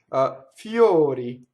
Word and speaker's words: fiori: Now, O before R in English usually always opens, right? Door. And notice the harmonization. The R is bleeding into that vowel, something fierce. So this you have to think fio, right? O, fiori, fiori, flowers, fiori, right? Notice the semi-vowel before the O, and then the other ones are an actual vowel, right?